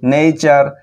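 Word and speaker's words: nature: 2 নম্বর কারণ হলো কোনো ওয়ার্ডে যখন টি লেটারটি এই অবস্থায় থাকবে TURE তখন টি এর উচ্চারণ আমরা চ এর মতো পাবো। যেমন দেখো নেচার, কালচার, ফিউচার, লেকচার, চার চর মতো পাচ্ছি।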